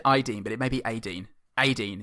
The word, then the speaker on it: Aideen: She said it's pronounced AIDEEN. Would you say Ideen or Adeen?